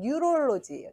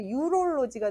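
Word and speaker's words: neurology: 신경과 의사가 영어로는 뉴럴로지예요. 뉴럴로지. 예. 근데 잘못 발음하면 유럴로지가 돼서 비뇨기과 의사가 됩니다.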